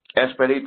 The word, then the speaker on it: Expedito: I'm assuming that of Spanish descent because when I look it up, it's pronounced as Expedito. Expedito, that is correct.